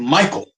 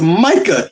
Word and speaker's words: Micah: For one, you mispronounce this dude's name. You called him Michael. Fucking Michael. It's Micah, you dumbass.